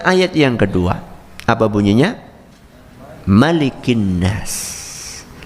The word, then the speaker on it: Maliki: Malikin nas. Malikin nas, cara membacanya cuma satu saja. Maliki, pendek. Tidak malikin nas.